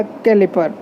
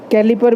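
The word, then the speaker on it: caliper: कई लोग इसको क्लिपर भी कहते हैं, क्लिपर भी कहते हैं, कैलिपर भी कहते हैं, पर लेकिन जो इसके जैसे स्पेलिंग है वो कैलिपर बनता है तो इसलिए कैलिपर कहना पड़ेगा।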